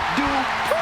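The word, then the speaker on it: Dupree: Michael, it's pronounced Dupri.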